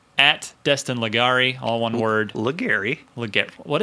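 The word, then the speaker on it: Legarie: Legari.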